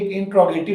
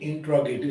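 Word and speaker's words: interrogative: आपकी तवज्जो चाहिए कि हमारे स्टूडेंट्स को ज़्यादातर मिस प्रोनाउंस करते हैं स्टूडेंट्स, इंटेरोगेटिव कहते हैं सवालिया जुमलों को। तो ये प्लीज़ आपने ज़हन में रखना है कि ये इंट्रोगेटिव प्रोनाउंसिएशन है। जो करेक्ट प्रोनाउंसिएशन है वो क्या है, इंट्रोगेटिव। सवालिया जुमलों को इंग्लिश में क्या कहते हैं, इंट्रोगेटिव। इंटेरोगेटिव नहीं कहना प्लीज़ आपने कभी भी।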